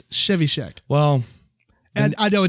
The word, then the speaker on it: Trzewiczek: Yeah, they got a bunch of other people on here, but and I think his last name is pronounced Trzewiczek. I might be wrong, but I'm pretty sure it's Trzewiczek.